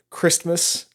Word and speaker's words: Christmas: So everyone pronounces Somebody it says Christmas. Merry Christmas. Man. That is the way that it's pronounced. Merry Christmas. But it sounds weird. And the T in there, it breaks up the word. It's this weird situation of having that T that comes in that kind of breaks it up.